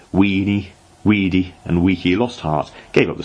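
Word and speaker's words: veni, vidi, vici: well educated construed correctly the britons however still use the old pronunciation understood him to have called them weenie weedy and weaky lost heart gave up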